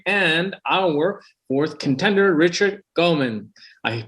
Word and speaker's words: Guaman: host daughter sabri and our fourth contender richard gomen i pronounced it right correct it's guaman yeah yeah okay too many times i made